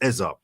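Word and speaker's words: Eze: clarify because on I I thought to say he's pronounced his own name Ez. Yeah. Now people are saying Eza, but everyone said EZ.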